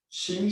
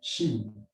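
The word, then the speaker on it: qing: Ching s'écrit Q-I-N-G, Ching.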